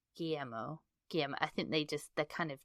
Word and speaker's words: Guillermo: It is not Guillermo Del Toro. No. That's all we know. You don't pronounce the L's.